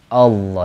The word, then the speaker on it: Allah: alam kedua jadi Allah lalu dibaca tafhim dibaca tebal Allah yang asalnya Allah jadi